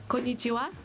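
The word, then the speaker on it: konnichiwa: It's pronounced konichia.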